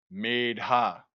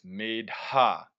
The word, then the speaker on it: medha: Sanskrit, medha, medha. So this H here is pronounced. So it's medha, long A.